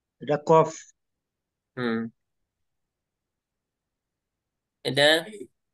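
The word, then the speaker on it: ق: উচ্চারণ হয় সব অক্ষর কফ হচ্ছে যে জিহ্বার মধ্যখান জিহ্বার মধ্যখান মধ্যখান থেকে কাফ কফ কফ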